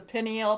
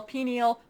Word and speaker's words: pineal: is things you know they call this the pineal pineal pineal pineal gland there's different pronunciations for that but it is that